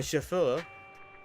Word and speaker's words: chauffeur: My chauffeur... That's not how I'm supposed to pronounce it, do I? Wait, hold up. Chauffeur. Pronunciation. Chauffeur. Sofa, okay. Sofa with the S, with the H.